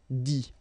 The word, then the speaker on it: dit: Okay, remember, you put this T, you don't pronounce it. Écrit, dit.